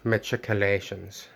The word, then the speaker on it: machicolations: and we nicholas lloyd says that like many words of greek origin he wants to say articulations or perhaps that's how a lot of academics have been pronouncing it but overall um that's a pronunciation he can use if he wants to but the oxford dictionary for received english would say uh matriculations very similar to how chad actually